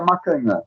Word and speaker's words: Macagnan: entrevistado, o psicólogo Macagnan. É isso? É isso? Tá correto. Eu gosto dessa pronúncia, tá? Mas o certo seria Macanhã. Mas eu gosto dessa pronúncia. Eu prefiro até essa pronúncia, tá?